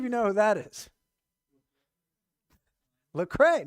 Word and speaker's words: Lecrae: know who that is lecrae no it's not the cray i never heard of